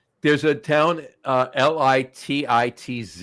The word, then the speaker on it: Lititz: then and and it's there's a town uh l i TI TZ it's pronounced l litit l pronounced litz it's pronounced lits Lititz what are those they're Lititz there you go